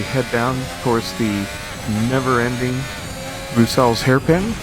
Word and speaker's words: Bruxelles: And then we head down towards the never-ending Bruxelles hairpin, named after the city of Brussels, except with the real pronunciation.